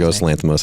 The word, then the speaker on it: Yorgos Lanthimos: Is that how you correctly pronounce it? Yorgos Lanthimos, I think.